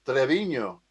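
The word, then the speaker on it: Treviño: See, Trevino is not really Italian. Trevino is Spanish. Oh. It's pronounced Trevino.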